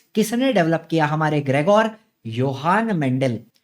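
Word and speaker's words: Johann: हु इज the Pioneer of modern genetics, तो modern genetics किसने develop किया, हमारे ग्रेगोर योहान मेंडल। जोहान नहीं है वो, उसका प्रोनाउंसिएशन योहान होता है।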